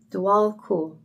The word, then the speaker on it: Djwal Khul: So, he says it's pronounced Dwal. Dual cool.